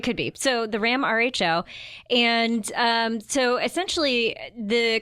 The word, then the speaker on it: Rho: and by the way I did ask if it's row or R and it is rho so I totally been